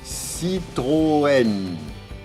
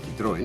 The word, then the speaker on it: Citroën: Entonces en francés se escribe con una diéresis, porque si no se diría Citroën, Citroën, ¿vale?